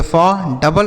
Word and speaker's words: food: आगे FOOD, तो यब से पढ़ेंगे फॉ, डबल ओ का उच्चारण बड़ा ओ की मात्रा, और डी से डॉ, यह लिखा है फूड, मतलब क्या होता है बच्चों?